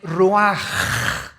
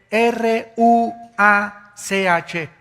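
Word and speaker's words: רוח: versículo 29 y exhaló Isaac Qué cosa el ruaj que se escribe r u a c h ruach en el hebreo y se pronuncia igual ruaj Aquí vemos que al morir dos personas diferentes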